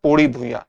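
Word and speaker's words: पौड़ी भुइयां: प्रकार लिखा जाता है तो इसके उच्चारण में कई जगह आपको अंतर भी देखने को मिलेगा तो उससे परेशान होने की जरूरत नहीं है उच्चारण में इस तरह के अंतर आपको सामान्यत देखने को मिल जाते हैं इस तरह से ही इसका उच्चारण किया जाता है पोड़ी भुया तो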